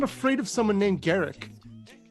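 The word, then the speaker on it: Garruk: to dodge basically uh garuk or garrick i know people the actual pronunciation is garrick i'm aware of that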